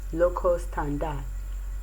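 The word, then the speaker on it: locus standi: s becomes silent a word like l-o-c-u-s-s-t-a-n-d-i is pronounced as tanda lokostanda and the word p-r-i-m-a-f-a-c-i-e is prima facie prima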